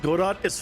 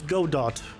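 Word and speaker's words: Godot: Godo. No, it's Go Dot. It's not G. WG guu. I'm American. We pronounce things like Americans. Go dot. It's go dot. You know when when words come to another place, they become uh localized. It's localized to American English.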